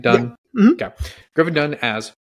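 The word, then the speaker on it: Dunne: uh Stars Griffin Dunn right that's how you pronounce his name Dunn mhm yeah gin done as Paul who as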